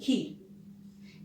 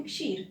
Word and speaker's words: क्षीर: जैसे कि मैं एक व्यंजन का नाम लेना चाहूंगी, खीर। इसका वास्तविक नाम है क्षीर, लेकिन कहीं कहीं उच्चारण में, है ना, तब्दील क्या होने लगा? खीर हो गया ये, और आज हम क्या बोलते हैं?